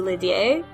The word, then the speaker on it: Lydie: one is more correct, if it's Lydie or Lydia. It's definitely Lydia. Okay. Not Lydie.